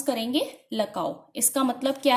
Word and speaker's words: LCAO: इसको हम क्या प्रोनाउंस करेंगे? लकाओ।